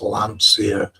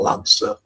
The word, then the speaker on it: Lancia: Stephen says it's pronounced Lancia, not Lancer.